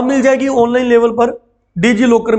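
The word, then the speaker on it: DigiLocker: डीजी मतलब T silent कर दो, डीजी लॉकर, डीजी लॉकर कहते हैं शॉर्ट में।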